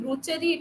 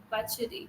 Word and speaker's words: butchery: And the pronunciation of this, you're saying bruchery, it is there is no R in this word, butchery.